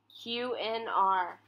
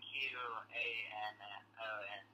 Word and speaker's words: QAnon: QNR. QAnon. Spell that? QNON. No. Oh, wait, sorry. QAnon. QAnon. Like an anonymous.